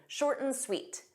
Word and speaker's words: short and sweet: We take that and, but we just pronounce it mhm. Short n, short n sweet, short n sweet. So, you pronounce it like one word.